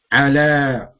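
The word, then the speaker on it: على: Ala. 1, 2, 3. Although the ya is silent.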